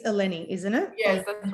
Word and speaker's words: Eleni: It's Eleni, isn't it? Yes, that's right. You pronounce it correctly.